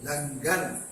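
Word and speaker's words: लंघन: இப்பொழுது இதை உச்சரிக்க வேண்டிய விதம் என்னவென்றால் ல இங் க இன் லங்கன்.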